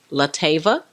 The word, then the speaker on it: LeTavia: you said it perfect that is chief lot Ava 'mobile ijen go my Billy Jango I'm actually an Atlanta